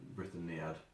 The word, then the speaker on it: Brythoniad: I mean, I pronounce it Brythoniad because in Welsh, generally speaking, they put the emphasis on the second to last syllable of any word.